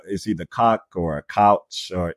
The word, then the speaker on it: Koch: name, but Julia, is either Koch or a couch, or it's K-O-C-H. But she was the wife of a billionaire. The Koch brothers. It's Koch. There we go. Koch.